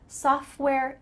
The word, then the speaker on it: software: civil engineer i'm a software engineer notice that the t in the middle of software is cut out soft where the f